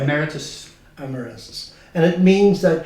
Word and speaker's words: emeritus: It sounds like amorous when you say it that way. Will you pronounce it the proper way? Emeritus.